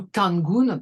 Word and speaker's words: Dangun: Vous voyez ici ce personnage, là, c'est Dangun ou Tangun, parce qu'il n'y a pas de différence entre enfin, c'est un TD qu'on arrive mal à prononcer nous-mêmes.